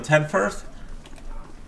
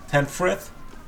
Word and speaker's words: Tenfrith: How you doing, Tenfirth? Tenfrith? I've been pronouncing his name wrong.